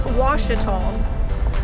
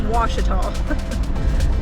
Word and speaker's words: Ouachita: So if you're wondering how to pronounce that forest, it's Ouachita. A lot of people mispronounce that. They don't know. Of course, I can see why. It can be a little confusing, but especially if you hear the newscasters and stuff on the news, they mispronounce it all the time. There is a town somewhere called Ouachita, spelled W-A-S-H-I-T-A, but that's how you pronounce it, is Ouachita.